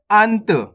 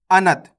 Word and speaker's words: अंत: तेजी के साथ करेंगे आपको इस तरीके से नहीं पढ़ना देखो अनत अगर आप अनत पढ़ोगे तो इस प्रकार से ना का उच्चारण पूरा हो जाएगा जबकि यहां पर तो आधा ना लगे हु है तो अपन कैसे पढ़ेंगे अंत फर्क समझ में आ